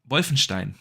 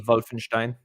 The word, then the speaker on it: Wolfenstein: Pronounce the W more like a V. Yeah. Wolfenstein. It's a W. Wolfenstein.